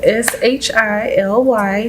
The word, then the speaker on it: Shily: Just the way it sounds is the way it's spelled. Spell it for him. Sure. SHILY superstar.